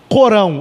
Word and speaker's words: Corão: bem semelhantes algumas diferenças corão ou alcorão existe essas duas pronúncias da palavra ao porão ou o